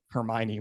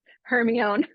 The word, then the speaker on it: Hermione: too so and then I realized Hermione was not the way I was pronouncing her name Heron that was still bad